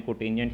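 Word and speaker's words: cotangent: है, कोट या कोटेंजेंट, इसको वैसे लिखा कोट जाता है लेकिन इसको प्रोनाउंसिएट आपने कोटेंजेंट ही करना है ताकि आपको इसकी फुल फॉर्म हमेशा याद रहे।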